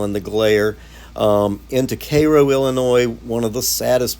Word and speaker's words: Cairo: out of Koo and it's spelled Cairo but it's Koo and Crossing into um